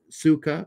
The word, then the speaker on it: sukkah: like the word Sukkot it could be pronounced like Suka or to rhyme with book hey okay the Suka